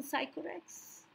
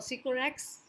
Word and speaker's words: Sycorax: Have you forgotten Sycorax? Or Sycorax? It's a proper noun, so either you pronounce it as Sycorax or Sycorax.